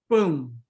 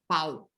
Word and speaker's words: pão: So this making or pronouncing nasal diphthongs is ultra important. Like it is phonological, you need to do it, right? Because if you don't nasalize you run the risk of saying pau, okay?